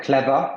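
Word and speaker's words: clever: tout à fait donc clava tu prononces pas tu prononces pas le r donc ça c'est pareil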